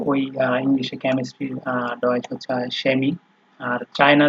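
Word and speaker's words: Chemie: এই সেহা যখন হচ্ছে আপনার বাক্যের শুরুতে ব্যবহার হবে, তখন এটার উচ্চারণ তালিবর্ষ বা দন্তস্ব যেটাই বলেন, মানে স এর মতো হয়। যেমন এখানে আছে শেমি, শিনা, শেফ, ঠিক আছে।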